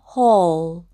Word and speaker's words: whole: 그래서 오우 이렇게 발음해 주시면 돼요. 그러면 호우가 되고 이 L은 자음이든 모음이든 받침으로 들어가기 때문에 이렇게 받침으로 넣고 이는 묵음 해서 이 단어는 whole 이라고 발음하시면 됩니다.